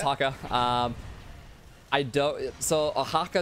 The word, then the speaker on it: haka: Do you know Hakka, or is that how you pronounce it? Yep, it's Haka.